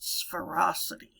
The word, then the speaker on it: sphericity: one it's called spherocity it looks like it ought to be sphericity but i've always heard it pronounced spherocity ferocity is an extension